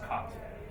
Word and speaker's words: cat: You know, so for instance, cat in Irish is the same as in English, more or less. It's cot. So that's a C-A-T.